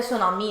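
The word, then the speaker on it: tsunami: ये Chinese name है, इसमें टी अमूमन जो होता है ना हमारे पास साइलेंट होता है, सुनामी है, सुनामी में साइलेंट होता है।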